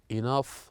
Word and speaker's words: enough: And here we have the word enough, laugh, tough that ends with GH, they pronounced as the F sound.